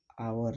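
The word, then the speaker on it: hour: यहाँ एन आवर, यहाँ भी एच क्या है, साइलेंट है, इसलिए यहाँ एन आर्टिकल्स का यूज है।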